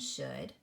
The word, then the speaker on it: should: words would could and should we have oh you saying O and the L is silent so when you come